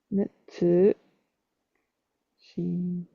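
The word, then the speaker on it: 熱心: You would assume from the kanji de shin shin, and that's not how that's pronounced. Netsu shin koro neshin.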